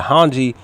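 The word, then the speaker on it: Hange: give me a second so hanji that's it hanji i apologize that's my fault guys please forgive me i was saying her name wrong definitely forgive me um but yeah hanji when she's introducing mike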